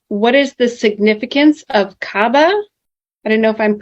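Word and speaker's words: Kaaba: Now it looks like the first one is what is the significance of Cababa? I don't know if I'm pronouncing that right.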